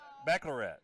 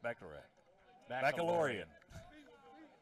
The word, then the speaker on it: Baccalaureate: JCIB, we like to call it, for those of us who can't pronounce it correctly. International Bachelorette. So, Baccalaureate. Baccalaurean.